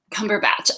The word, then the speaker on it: Cumberbatch: I hear we Americans don't know how to pronounce. I'm sorry? Cumberbatch.